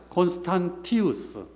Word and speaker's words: 콘스탄티우스: 예, 어떤 때는 콘스탄시우스라고도 그러는데 뭐 상관없습니다. T자 발음이 C도 되고 T도 되고 그러는데 라틴어에서는 콘스탄시우스입니다. 근데 이제 근자에 오면서 콘스탄티우스라는 발음으로 정착되는 것 같아요. 그래서 우리 표준말로는 콘스탄티우스라고 이렇게 되어 있습니다.